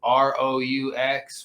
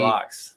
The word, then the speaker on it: roux: ROUX. When you make food, when you're making gravy. I call it rocks. I know it's like. I call it rocks. Pronounced like that. It's pronounced roux.